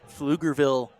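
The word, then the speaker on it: Pflugerville: I believe it's Flugerville, Texas is where he's from. Junior with Dakota State University. The only reason I say that is I'm not sure if that P is silent or not. Otherwise, you try to say PFugerville or something like that.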